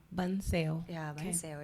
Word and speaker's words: bánh xèo: Bánh xèo. Bun sale.